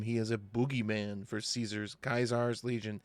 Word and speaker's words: Caesar: He is a boogeyman for Kaiser's Legion. How do you guys pronounce it, Caesar or Kaiser? They pronounce it Kaiser in the games.